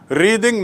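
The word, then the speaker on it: wreathe: एंड टू रिद माने, उच्चारण देख लीजिए, टू रिद, जब वो क्रिया होती है तो रिद, रिद माने गूंथना, और रेत माने फ्लावर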